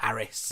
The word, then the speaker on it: Ares: From the rescue centre, and he's called Ares. French. It's a French dog, Le Labrador. But it's pronounced like Aris.